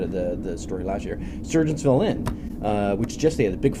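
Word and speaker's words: Sergeantsville: When you look at that, people say Sargentsville. No, it's not Sargentsville. It does Surgeonsville. Okay. So that's how you pronounce it.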